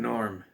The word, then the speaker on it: Gnorm: but then he's like the g is silent no it's get not